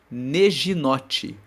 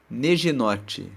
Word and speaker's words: neginote: Na versão da Almeida, as Bíblias dizem assim: ao mestre de canto, com neginote. Neginote. Neginote se escreve N-E-G-I-N-O-T-E.